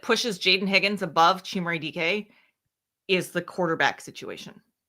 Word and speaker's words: Dike: Chimere Dike.